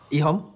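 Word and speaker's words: EHOME: Rhymes with flea bone. Navi and IG. Oh, close. Navi and Ihom.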